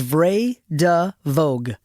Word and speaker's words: Vray de Vogue: But no one ever knows how to say it. It's Vray de Vogue.